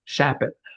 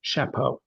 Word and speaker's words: Shapot: It's a shortened Russian name, and nobody gets it right the first time, but it's simple. Shapot. I actually have a first cousin who's a little hoity-toity and snooty, and he pronounces his name Shapot. Okay. Like the French might pronounce it.